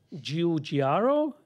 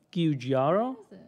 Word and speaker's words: Giugiaro: For me, and I can pronounce Giorgio. It. Giorgio. Giorgio. Okay, good. Giorgio. Va bene. Giorgetto Giugiaro. Giugiaro.